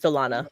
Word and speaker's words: Salana: Uh by the way guys, my name is pronounc pronounced Salana by the way.